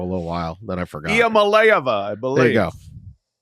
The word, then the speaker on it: Iamaleava: Iamaleava, I believe.